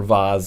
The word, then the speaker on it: vase: to another room move a vase from one room or Vaz if you'd prefer that pronunciation from one room to